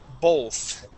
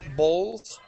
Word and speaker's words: both: Because yeah, going from that O to the TH, when your tongue goes between your teeth, it almost sounds like an L.